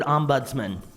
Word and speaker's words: Ombudsman: a little practice of the word Ombudsman three syllables Ombudsman in this almost time